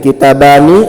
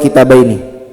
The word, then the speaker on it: kitabani: Kita mau hubungkan dengan isim musanna ini, kitabani atau kitabaini kira-kira? Ternyata kalau ada jaa, cara bacanya kitabani, tidak boleh kitabaini.